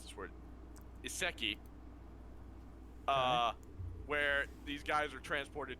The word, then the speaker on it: isekai: Is that what Ken's yeah, isekai. Isekai, yes. Okay. That's how you pronounce it.